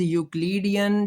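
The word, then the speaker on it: Euclidean: ये जो इयू है ना इसमें ई साइलेंट ही समझें। यू से आप स्टार्ट करेंगे। जैसे यूरोप होता है ना यूरोप में भी ई साइलेंट है अगर आप देखें तो। तो यह लफ्ज है यूक्लिडियन।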